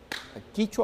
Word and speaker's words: quichua: ¿Quichua o quechua? Quechua. ¿Por qué? ¿Cuál es la diferencia? Fue una mala pronunciación del término. No hay diferencia. Es quechua y quichua es lo mismo.